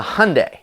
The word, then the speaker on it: Hyundai: hyundai sonata yes a hyundai it rhymes with sunday which is a really